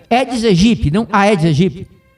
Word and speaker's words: Aedes aegypti: A pronúncia do mosquito é Aedes aegypti, não Aedes aegypti. A letra A desprezada não é pronunciada porque é latim.